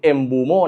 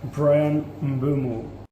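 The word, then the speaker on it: Mbeumo: กับ ทาง brัน mบูโม่ นะ ครับ ออก เสียง เอูโม่ นะ อ่ะ ก่อน จะ ไป คent นะ ครับ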